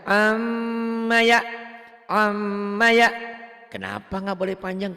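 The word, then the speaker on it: عَمَّ: Amma, tak boleh panjang. Yang boleh panjang M-nya. Amma ya. Kenapa nggak boleh panjang? Karena belum ada mad. Adanya Iya. cuman guna. M-nya memang jadi 3 Bu. M-nya amma yatasaalun.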